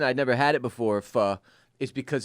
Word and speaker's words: pho: I think it's pho. It's spelled Mariah, can you confirm P-H-O.